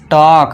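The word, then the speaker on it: talk: एल का हम उच्चारण नहीं देंगे तो इसे क्या पढ़ेंगे? टॉक।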